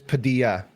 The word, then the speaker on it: Padilla: First name right, last name is Padilla. So I was pronouncing the L's and I shouldn't have.